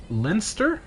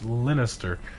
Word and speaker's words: Lannister: is that an l it says linster linnister instead of like minister or sinister it's lannister okay hopefully i'm saying it